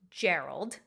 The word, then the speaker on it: Geralt: make the statement that in the english language this name is pronounced gerald so i don't think